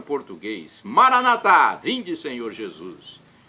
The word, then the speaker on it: Maranatá: Jesus, para o português: Maranatá, vinde, Senhor Jesus. E os nossos irmãos separados, os evangélicos ou protestantes, dizem Maranata, com a tônica na penúltima sílaba. Não tem problema, o significado é o mesmo.